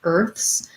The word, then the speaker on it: earth's: with a voice th i say it just like i say with with a voiceless th earth's um what i'll suggest